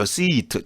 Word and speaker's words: seat: 근데 참고로 SEAT 있죠. seat 장모음입니다. 이 SIT는 단모음이라고 짧게 발음해요. sit. 근데 SEAT는 seat.